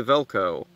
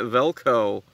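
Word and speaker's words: Valko: of the day's name is uh actually spelled v-a-l-k-o in my notes I spelled it v-e-l-k-o so I mean that's how they that's how everyone pronounces it so screw it I'm spelling it velco the major thing that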